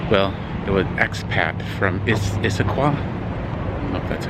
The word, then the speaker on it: Issaquah: neighborhood in Seattle well it would XPath from Issaquah that's how you say it it's a qual